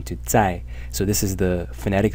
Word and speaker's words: 在: 才, where the character as a whole is pronounced 在.